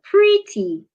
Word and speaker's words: pretty: Another example is the word pretty. Pretty has two syllables and it's an adjective. So you should stress the first syllable.